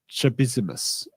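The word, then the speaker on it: Csabissimus: The CS in C. Sabissimus and CS ABA is his last name. Is supposed to be pronounced with a sound similar to the way you say the CH in chimichanga.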